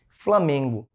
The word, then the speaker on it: Flamengo: mais forte mais intenso é justamente porque o Man é a sílaba tônica da palavra Flamengo pessoal naturalmente né nosso aparelho